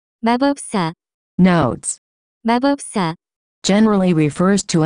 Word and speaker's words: 마법사: cuteness 마법사 equal 위치 The pronunciation of this word is closer to 마법사 Notes 마법사 Generally refers to any being that performs magic.